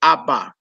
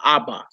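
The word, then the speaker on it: אבא: If you go by the rules that we going in this book, you hear some people say Ab or Av, but most Hebrews can pronounce father Abba. It's just what it is.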